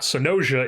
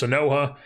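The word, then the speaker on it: Sanoja: It's not Sonoja, it's Sonoha.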